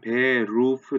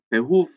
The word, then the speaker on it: Beruf: 그러다 보니까 이게 이 소리에 익숙지 않으신 분들이 듣기에 따라서는 베호프 이런 식으로 들리는 것처럼 그렇게 느껴질 수가 있거든요. 그러나 발음은 베호프에서 베루, 목 안쪽에서 나는 에르 발음이라는 걸 기억을 하시면 좋겠습니다.